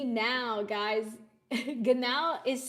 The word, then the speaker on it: genau: Now guys, ganow is spelled.